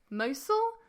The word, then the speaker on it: Mosul: and I'm not going to say this right mosul um in in the area in oh in